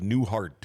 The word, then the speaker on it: Neihart: Yeah, another one of those names that's not spelled like it's pronounced. Yeah. And it was like Newhart or something the way it's spelled.